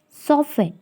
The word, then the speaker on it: soften: is silent letter sixth soften T is silent letter seven Wednesday D is